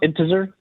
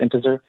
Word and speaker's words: Intezer: i think it's pronounced integer it's it's like the word integer but there's a z instead of a g so i'm going to go with integer might be in teaser